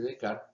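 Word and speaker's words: Descartes: la filosofía vimos que rené de kart se escribe de carnés en francés se dice de carne es a quien se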